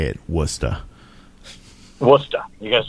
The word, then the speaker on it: Worcester: That's how we say it, Worcester. Worcester. You gotta say it right, Worcester. I know it's spelled Worcester. Yes. However, you get proper Massachusetts pronunciation. Worcester. Worcester. Woostuh.